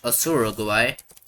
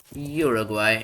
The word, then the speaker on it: Uruguay: Not Asuraguay. Uruguay and South Africa.